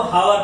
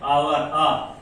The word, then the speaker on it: hour: दूसरा जैसे आवर, HOUR, कितने लोग इसको हावर पढ़ते हैं, ये रॉन्ग प्रोनाउंस है, इसको ओरिजिनल प्रोनाउंस है आवर, तो इसके हिसाब से ये हो जाता है स्वर।